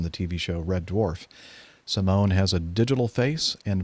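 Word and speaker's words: CIMON: a flying intelligent drone named Simone I would imagine that's the way you pronounce that CI mo and which stands for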